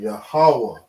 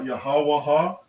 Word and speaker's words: Yahawah: characters they connect right it's not yahawaha it's not jehovah right it's not god it's